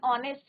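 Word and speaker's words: honest: है आपका ये एन ऑनेस्ट मैन. एन क्या है आपका कहाँ यूज करना है वोवल के साथ यूज करना है but sound vowel sound. H क्या है साइलेंट है, कॉन्सोनेंट है बट साइलेंट है.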